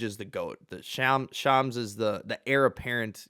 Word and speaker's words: Shams: I learned how to pronounce it. Shams.